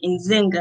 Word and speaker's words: Nzinga: must come from and he tried to say it perfectly he actually got it right on the first time um as you might say my name is stern zinger from rochester new york he said in zynga i said yes he was like okay